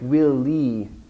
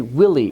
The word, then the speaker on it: Willy: short for William and she was pronouncing each syllable equally so it sounded like Willy and I thought she was echoing the question back to me will lead but she meant to say Willy we should have a